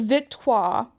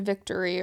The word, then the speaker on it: Victoire: swept by Boston yeah so Victor qua as opposed to Victory or whatever will always be pronounced in the French way as it should as